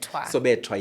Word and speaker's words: Sobetwa: I'm pronouncing it correctly. Sobetwa.